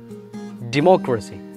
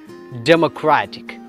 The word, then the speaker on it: democracy: So there is two types of pronunciation when it become noun and adjective. What is a noun? Democracy. Adinte uchcharanam democracy ennalla, democracy, democracy, democracy. Adu adjective aavugayanengil then it will be democratic. Endane democratic, democratic, democracy, democratic, democracy, democratic.